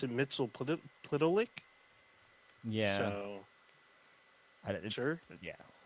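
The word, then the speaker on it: Mxyzptlk: So I thought it was Mittelplick, but he doesn't have. He has no vowels in his name. So in Supergirl, they pronounce it Mittelplick.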